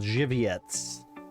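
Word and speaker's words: Żywiec: beer that i like it's called jiviets and that's how it's pronounced but if you were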